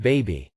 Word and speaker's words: bAbI: This QA task is called BABI, usually pronounced baby.